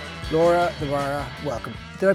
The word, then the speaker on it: Laura de Barra: Laura Dvara, welcome. Did I pronounce that properly?